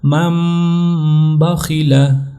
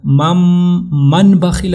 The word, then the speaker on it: من بخیل: بھی کہہ سکتے ہیں، لیکن جب اس کا تلفظ ہوگا تو ہوگا مم بخیل، من بخیل نہیں ہوگا، مم بخیل لیمبذن۔ دیکھیں نون